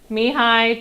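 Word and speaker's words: Mihály: is now I like looked up how to pronounce his name though it's uh mihai sheik sent me hi that's how you say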